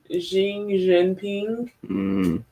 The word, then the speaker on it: Xi Jinping: Xi Jinping.